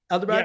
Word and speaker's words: Ahmedabad: Ahmedabad?